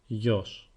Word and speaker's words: γιος: Son is masculine and it is translated as γιος. It is only one syllable, so it is not particularly hard. You just have to pay a little more attention on the way γάμα is pronounced.